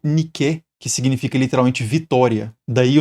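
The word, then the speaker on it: Νίκη: E no grego antigo, a pronúncia seria algo como niqué, que significa literalmente vitória.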